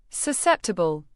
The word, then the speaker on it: susceptible: Susceptible. Pronounce it as so sep ti ble.